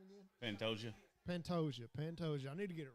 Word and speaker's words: Pantoja: Pantoja. I need to get it right. He's earned it. He's obviously not the better fighter, but he's It more ain't Patagonia, poppy.